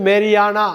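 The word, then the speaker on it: marijuana: அந்த இடத்துல ஜேவை கட் பண்ணணும், ஜே வந்து உச்சரிக்கக்கூடாது. மேருவானா, மேருவானா, மேரிவானா, மெரிஜுவானான்னு படிக்கக்கூடாது, ஜேவை கட் பண்ணணும். எம்ஏஆர்ஐ ஜேஏயுஎன்ஏல ஜேவை கட் பண்ணிட்டு மேரியானா அப்படின்னு படிக்கணும்.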